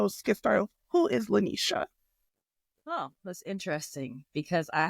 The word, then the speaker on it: LeNesha: my lovely lovely guest and she helped me pronounce it so it's Le Nisha so we're going to get it right I'm